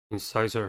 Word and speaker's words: incisor: next word is incisor incisor has three syllables and the stress is at the second one the first syllable is